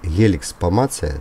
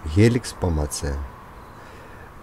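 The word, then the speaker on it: Helix pomatia: Улитка виноградная, или Helix pomacea, так правильно по латыни произносится, Helix pomacea, относится к классу брюхоногих, самому многочисленному классу в составе типа моллюски.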